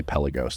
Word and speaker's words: Pelagos: has been or the pagos I always forget how to say it we all say pelagos no one calls it pagos I don't care if